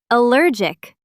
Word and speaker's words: allergic: Allergic. Allergic. Allergic. Allergic. reaction, reaction, reaction, reaction. Allergic reaction, allergic reaction. Excellent! The stress is on the second syllable in both words.